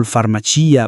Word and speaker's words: farmacia: For words ending in cia, gia and scia where the I is stressed, for example farmacia, bugia and scia, here the I is a real sound. It's heard in the singular and must be retained in the plural, in both spelling and pronunciation.